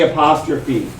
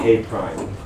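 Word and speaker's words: A′: This little apostrophe right here is how you denote complement, but we don't say A apostrophe. I don't know if anybody knows how you say it. It's actually A prime, like Amazon Prime.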